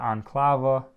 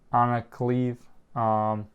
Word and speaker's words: Ankalaev: I know one of the big rookies is Magomed Ankalaev. I believe that's how you say it, or Ankalaev.